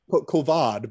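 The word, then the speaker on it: Kavad: at the time whose name believe it or not is is kovid uh it's more like covad but either way you know you'll frequently hear it just pronounce coven so they're they're with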